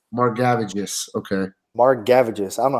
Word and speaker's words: Margevicius: So real quick, bro, while you were talking, I had to Google how to pronounce this guy's name. It's Margevicius. Margevicius. Okay. Margevicius.